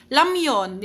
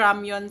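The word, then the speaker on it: 라면: Kapag nasa initial si leal, ano ang kanyang pronunciation? Kapag nasa nasa initial, L sound. L sound po ha. Kapag ini-spell lang kasi sa English nagiging R siya. Pero L sound po ang ano, kung mapapansin niyo is Lamon ' ba. Hindi siya ramon.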